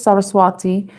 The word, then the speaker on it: Saraswati: The goddess Saraswati or Saraswati. I think that's how it's pronounced cuz I think the W is pronounced with a V.